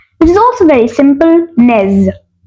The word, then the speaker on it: nez: word is nose which is also very simple Nez Nez very simple spelling n e z Nez then